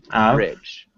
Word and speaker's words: average: So, we say avail average. Average. You're still adding that e. A average. Average. Average. Average. Average. close. Try to keep it only two syllables.